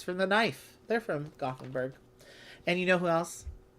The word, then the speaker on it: Gothenburg: Sounds like Gutenberg. It's Gothenburg, I guess is how you say it in English.